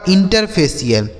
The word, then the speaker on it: INTERFACIAL: आगे INTERFACIAL, तो IN से हो गया इन, TER से हो गया दोस्तों टर, और FA से हो गया फे, CIAL का उच्चारण क्या हो गया CL, यह लिखा गया आपका इंटरफेशियल, इसे क्या पढ़ेंगे इंटरफेशियल, INTER टर, FA CIAL CL, इंटरफेशियल।